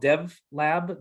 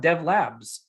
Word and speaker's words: dev.lab: The product we built is called dev.lab. The dot is silent. Some people call it dev.labs.